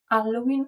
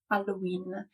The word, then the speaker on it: Halloween: about the word Hall Italians don't usually pronounce it with the H sound at the beginning as in Italian the H is silent so this word is commonly pronounced alen or alen in both versions the